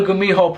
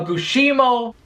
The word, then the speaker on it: Gumiho: Yo, I had to redo the Gumiho part like 3 times, okay? Because I pronounced it like 10 different ways. I don't know how, because this was my favorite one. It was ridiculous. I called it a Gushimo. What else did I call it?